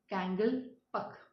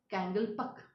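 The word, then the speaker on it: Kangleipak: which we are going to read that is pronounced as kangal pak okay what it is kangal pak and people so people who are there in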